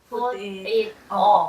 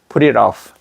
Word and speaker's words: put it off: 어 여기 R로 바뀌 버리잖아요. R로 바뀌고 여기 고리가 만들어지잖아요. 요게 여기 또 R로 바뀌죠. 여기가 붙어 버리잖아. 그러니까 이때는 T 발음이 어디론가 가고 없는 거예요. 그게 R로 다 바뀌서 그렇다는 거.